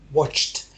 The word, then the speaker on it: watched: have just watched someone preparing a fish dish watched you pronounce idi as only if the verb finishes